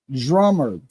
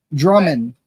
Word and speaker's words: Drummond: Caitlyn is the wife of Austin Drummer. Did I say it right? Drummer. Drummer. I always say Drummond. Drummond. There's a D at the end.